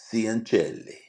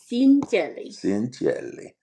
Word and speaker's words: Cianciulli: So this week I am going to tell you the story of Leonarda Cianciulli. Cianciulli.